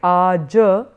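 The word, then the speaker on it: आज: it as kal, and therefore you have like aja, that in Sanskrit you would pronounce that as aja, but here I've given you only the Roman phonetics, it's pronounced as aj.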